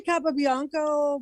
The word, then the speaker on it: Capobianco: No, it's really Capobianco. My great grandparents changed it.